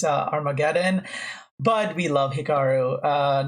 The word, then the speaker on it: Armageddon: to Ricardo Nakamura in our mecha don I'm just quoting Hikaru Nakamura of course it's not pronounced our mecha Don it's Armageddon but we love Hikaru